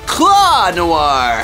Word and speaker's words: Claw Noir: got my name wrong it's actually claw Noir claw what are you